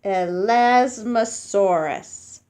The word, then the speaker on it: Elasmosaurus: say it like this ah less must Soros elasmosaurus elasmosaurus elasmosaurus was mostly neck it had a